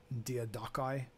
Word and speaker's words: Diadochi: You know, the name Diadochi sounds fun to say, but also sounds ridiculously goofy. I believe it's more Diadochi. I don't like pronouncing things the Latin way. This is Greek, dude.